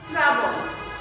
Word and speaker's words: শ্রাবণ: শ্রাবণ বানানো দেখো লাস্টে কিন্তু দন্তন্য মানে ন উচ্চারণ হচ্ছে, কিন্তু বানানোর ক্ষেত্রে কিন্তু দন্তন্য দিলে হবে না।